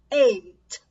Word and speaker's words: eight: vou dizer pra vocês se você pronunciar a letra a inglês é e ei é a letra a agora o número oito é e ei tanto a letra a enquanto o número 8 ambos têm apenas uma única sílaba a diferença está no último som então observa a importância